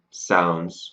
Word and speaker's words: sounds: add an S, but when we write it phonetically, we add in a Z sound because that's the sound we use. So, it ends up looking like sounds with a Z at the end.